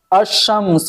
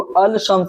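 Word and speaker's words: الشمس: जैसे अशम्स, हम इसको अल शम्स नहीं पढ़ेंगे, अशम्स पढ़ेंगे, तो ये शीन हरफे शमसी है।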